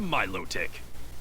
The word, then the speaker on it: Milotic: mass Wow that Phoebus yep Phoebus evolved into Milotic okay it's Milotic I can I never knew how was supposed to be pronounced but if that's the official pronunciation then